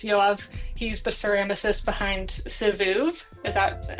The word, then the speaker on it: Sivoov: He's the ceramicist behind Sivoov. Is that how you pronounce it?